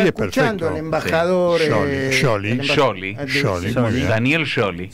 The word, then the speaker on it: Scioli: Daniel Scioli. Scioli sería Scioli. SC en italiano. Y la I no se pronuncia Scioli.